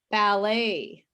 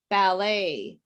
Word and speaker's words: ballet: at these words better ballet question direction do these sound like the letter t did you hear a letter t better ballet question direction there's no sound of t in these words look at these words